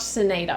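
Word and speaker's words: buccinator: with that one but Sonata because I know it's not Buccaneer it's it's pronounced with an S so but sinata um which is kind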